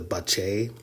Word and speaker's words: Bacchae: Once he jumps in, he notices that the girls are part of an underground team of women called the Bache. It's spelled Bacchae.